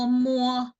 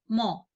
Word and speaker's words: mo: Sama ya, mu o muo, mu o muo, muo. Jadi bukan langsung mo. Kalau di daerah Jawa Timur mo itu ada, mo itu artinya tidak mau. Jadi bukan seperti itu, tapi ada u-nya. Di antara m dan o itu ada u. Seperti ini, muo, muo.